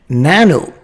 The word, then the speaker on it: nano: Nano rhymes with 9.